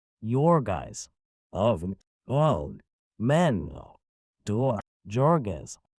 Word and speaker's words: Jurgis: married, and married to Jorgis asterisk, pronounced Yorgais, of all men, to